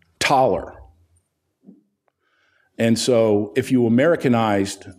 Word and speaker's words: Thaler: At least I thought it used to be Thaler because that's how it's pronounced. That's how it's spelled. But it's pronounced Thaler. And so if you Americanized the Austrian Thaler, you get dollar.